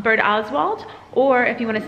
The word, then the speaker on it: Birdoswald: from here and so she says it's um bird ozwald or if you want